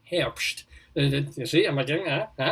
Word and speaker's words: Herbst: whistler harps now and notice i'm pronouncing your name since last time with a much more german sort of hamst you see am i